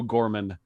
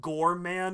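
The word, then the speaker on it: Psycho Goreman: looks amazing i don't i think it's pronounced gore man and not gorman oh just for the record it is psycho gore man but it's written gorman not psycho gorman it's a different movie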